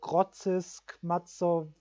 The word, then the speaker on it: Grodzisk Mazowiecki: Bereich Warschau, also bei Grodzisk Mazowiecki wird es, glaube ich, ausgesprochen, der Bahnhof, da gibt es sogar 130er Weichen.